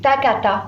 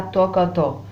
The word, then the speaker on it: takata: Attention, quand je te demande un takata, c'est takata et pas tokoto.